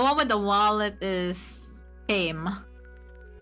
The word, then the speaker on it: Caym: The one with the wallet is Kame. Caym. Well, apparently that's how they pronounce the name.